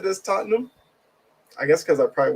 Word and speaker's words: Tottenham: M Nice pronunciation of Tottenham most Americans say tottingham did not know that but I will definitely take that I've always said this Tottenham I guess because I